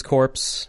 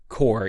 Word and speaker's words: Corps: Waza and the Satella Police Corpse or Core. You pronounce it core, right?